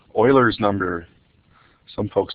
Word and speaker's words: Euler: numbers maybe even my favorite number it's called Oilers number some folks call it Euler's number but I believe that's a mispronunciation it's actually called Oilers number so Oilers number is a special thing